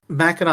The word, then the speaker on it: Mackinac: Okay, so I'm gonna get killed if I don't correct you and say it's Mackinac Island.